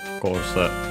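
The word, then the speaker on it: コース: Of course, course on the ko, on the first syllable.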